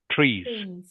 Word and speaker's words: trees: I need to hear the S. Okay, make sure you pronounce the S clearly. Otherwise, it sounds like tree, and we are talking about trees plural here. So you must have the S on the end.